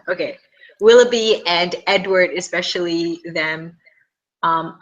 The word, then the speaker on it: Willoughby: do you say his name will will will willby okay Willoughby and Edward especially them um I do see